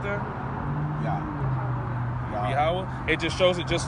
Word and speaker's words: Yahweh: Some people say Yahuwah, some people say, these different things. But at the root of it all, Yahweh is how you say his name.